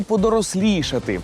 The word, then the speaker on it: подорослішати: подорослішати тактак за пам'ятали у слові подорослішати наголос на звук І подорослішати о цікаво що